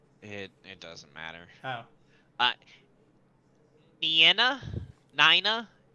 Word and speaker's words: Nyna: Nyna? The Japanese pronunciation is Nina.